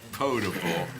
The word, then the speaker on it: potable: city limits for use as Goodwin my friend potable that's pronounced mr.